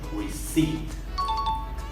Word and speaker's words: receipt: We have a silent P in this word. We pronounce it receipt.